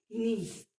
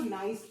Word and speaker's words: niece: नीस, NIECE, नीस। और कुछ बच्चे इसको नाइस बोलते हैं। नहीं बेटा, the pronunciation is नीस, that is NIECE, नीस।